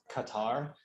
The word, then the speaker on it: Qatar: In Spanish, it's spelled Qatar, C-A.